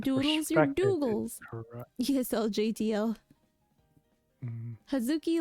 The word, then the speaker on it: Hazuki: it hazuki or huki so I pronounce it hazuki but a lot of people do like to long it like hazuki yeah people are like